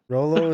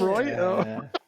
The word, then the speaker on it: Rolo: Rolo is like pollo, which is chicken. Oh yeah. Oh, Roy. Oh. That sounds good actually. Oh, what's it? Have we been pronouncing it wrong? Is it Royo? Absolutely not.